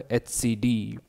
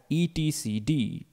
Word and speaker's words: etcd: Kubernetes, the brain of Kubernetes, that is the etcd.